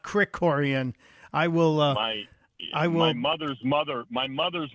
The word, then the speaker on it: Krikorian: mispronouncing as a guy who gets his name mispronounced all the time I'm embarrassed I said kiroran not Crick Coran I will uh my mother's mother my mother's